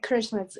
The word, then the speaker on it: Karishma: And Karishma? Hi. Yeah, Karishma is the right way to say it.